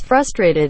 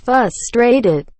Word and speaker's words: frustrated: it drives me insane when people pronounce frustrated as fustrated i hear a lot